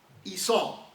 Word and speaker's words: Esau: It's Esau, okay? It's spelled E-S-A-U, Esau.